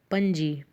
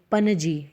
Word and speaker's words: Panaji: Smallest area wise state is Goa, and the capital of Goa is Panji. Panaji. In this spelling, students, second A is silent. You will not pronounce it like Panaji.